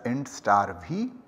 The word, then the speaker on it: int *v: So we are going to write int star v. Yeah, so as I just pronounced it, this is going to be read or pronounced as int star v.